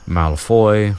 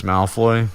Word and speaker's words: Malfoy: For some reason, he pronounces the last name Malfoy sometimes, and other times Malfoy. And to me, it's Malfoy, but it's like and